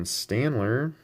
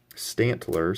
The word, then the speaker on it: Stantler: energy search first edition standler Stantler sorry i've been pronouncing that wrong first edition kogas wheedle